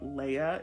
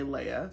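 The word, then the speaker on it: Laia: character of this book I think you pronounce her name Leia it's spelled l a i a I'm going to say Leia her and her family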